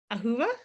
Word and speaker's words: Ahuva: big name to try and remember how to pronounce welcome today ahuva exactly is that correct okay look at you